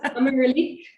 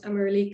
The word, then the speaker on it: Ameralik: I think it's Ameralik, but you hear a lot of different pronunciations.